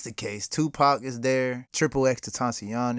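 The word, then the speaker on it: XXXTentacion: case Tupac is there triple X to tashion is there so that's how you pronounce it okay I've I've always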